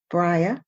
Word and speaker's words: Bria: shining star of this story her name is briah potter i hope i said it right brian